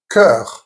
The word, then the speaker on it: cœur: Now this weird combination of an O with an E attached to it and a U, pronounced E. For example, cœur, meaning heart, sœur, meaning sister, and the letter OU, which is always OU.